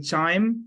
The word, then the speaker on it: QIIME: with every day in daily basis, is the CHIME, which is a canon. You know, pronunciation is a different, but it stands with the QIIME, which is the Quantitative Insights in Microbial Ecology.